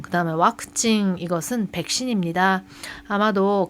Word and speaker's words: ワクチン: 일본어는 그 영어 중에서 V자 스펠링이 있는 것은 대부분 와단으로 발음을 합니다. 지금 왁진이 백신인데 와크징 하고요.